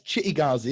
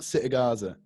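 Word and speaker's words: Cittàgazze: thought they got uh it's chitti ghazi isn't it it's not citagarza he's pronouncing it wrong at the time um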